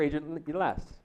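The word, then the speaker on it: agentless: Are you ready for agent less? Yes. Okay. There you go. Rhymes with less.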